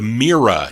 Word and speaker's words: Mira: 1965 that's on them the mira that's how you pronounce that not myra mira m-i-r-a mirror records song entitled